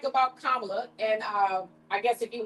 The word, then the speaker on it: Kamala: Because you saying her name wrong. They real How do you say the name? Kamala.